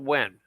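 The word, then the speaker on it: Nguyen: His name is Paul Wen, but it's spelled NG UN, and he breeds betas, and he also breeds uh flower horns.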